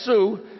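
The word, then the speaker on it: Sault: announce here today that Gary salt pronounced as Sue from the new credit nation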